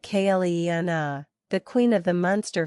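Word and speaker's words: Clíodhna: And there is Cleodna, pronounced something like Cleena, the queen of the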